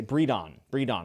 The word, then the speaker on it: Bredon: Bredon is how we're going to say Bredon. I looked it up on Google.